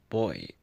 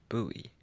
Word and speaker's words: buoy: Americans pronounce it as Bui Bui sounds like something a kid would say if he gets hurt are we I've got a buoy in the UK is pronounced boy like Bo Y which makes sense to